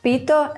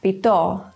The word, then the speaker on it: pito: Stress can change the meaning of a word. Consider baka and baka, or pito and pito.